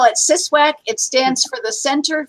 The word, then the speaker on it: CSWAC: the short version um we usually call it siswack it stands for the center for the study